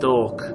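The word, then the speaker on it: Toque: um one commentary commenter said that this is pronounced talk thank you thank you I wish I could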